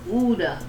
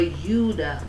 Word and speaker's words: Judah: For Uda, for Judah, there was no J's. It was you. It was a Y, if anything. Judah, Uda. They spell it O-I-U-D-A sometimes.